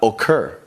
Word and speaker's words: occur: in the verb comes here we've got occur the stress is on the end of the word here we've got happen